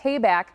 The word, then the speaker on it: Tabak: You can contact Tabak for the payback, as they say, to remember how to say the name.